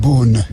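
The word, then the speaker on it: Beaune: No, we're not pronouncing it in the true French way, which I have not figured out how to do it. Boon. Boon. That was good, JP.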